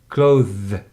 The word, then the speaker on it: clothes: They just, after O, pronounce the clothes as closed door.